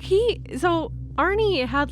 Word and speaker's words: Arne: a couple Aries but it's spelled a R NE e it's not spelled didn't ask but it threw me off it took me a second to realize that his name is just Arie just spelled differently well